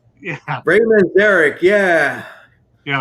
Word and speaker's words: Manzarek: Mazurek. I forget. I can't pronounce his on the freaking organ or what. Oh my God! Come on, Ray Manzarek.